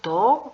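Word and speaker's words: とお: el sufijo su, pero se va a pronunciar to con alargación con o, ¿sí?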